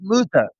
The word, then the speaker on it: Muta: H and U and Great Muta.